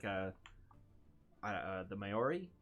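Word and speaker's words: Māori: a uh uh the Maori. Is that how you pronounce that? The uh the tribe Yeah, Maori.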